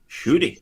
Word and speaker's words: Ncuti: Sorry, how do you pronounce his first name? Ncuti.